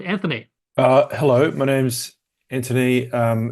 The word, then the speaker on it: Anthony: uh hello my name's Anthony um it's a silent h there's no reason for you to know that I'm just telling people